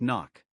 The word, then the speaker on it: NOC: Inside the agency, it's called NOC. Pronounced like knock.